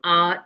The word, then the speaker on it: hour: that will be an hour echo as I told you h is a consonant but it is it remains silent h remains silent and at At the beginning there is vowel sound.